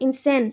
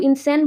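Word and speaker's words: insane: Lose your marbles मतलब temper खो देना, क्रेजी हो जाना, इंसैन, इसको इंसैन बोलते हैं, स्पेलिंग दे देना, इंसान मत बोल दो, इंसैन है।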